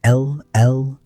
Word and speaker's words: LLVP: In the technical literature, they are abbreviated as LLVPs, pronounced as individual letters.